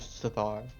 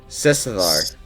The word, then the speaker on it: Sethar: Sethar. Sethar. Sethar. So you pronounce the S as a separate.